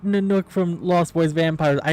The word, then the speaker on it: Nanook: It's N-A-N-O-O-K is how it's spelled for the T-Y. It's Nanook. Yeah. So that's Nanook.